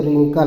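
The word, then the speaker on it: wrinkle: है पाना ठीक है डब्लू आर आई एन के एल ई है तो इसको डब्लू साइलेंट रहेगा नहीं बोला जाएगा आर आई एन के ए है तो रिंकल बोला जाएगा रिंग कल रिंकल मींस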